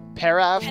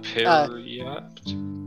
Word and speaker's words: periapt: You have the paraft of it's the paraft of health. So, fun fact, Jacob. How do I spell that? Periapt.